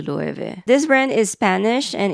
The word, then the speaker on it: Loewe: In America, I've heard people say Lo-e-way, Lo-e-way, Lo-e-way, Lo-e-ven many other versions. In Japan, we just say Lo-e-ve. And the original pronunciation is closer to Loewe.